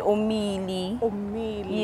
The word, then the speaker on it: Omeili: do you say um okay it's pronounced Oh me me me yeah and it's spelled om e i L I cuz it gets me